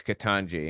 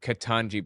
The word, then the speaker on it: Ketanji: calling her Jumanji because her name's katangi and katangi rhymes with jamanji and jamanji was a